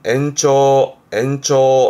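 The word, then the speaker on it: 延長: 그래서 연장, 발음은 엔초 해서 뭔가 길게 늘리는, 기간을 늘린다라든가 그럴 때 연장이 엔초가 이 한자입니다.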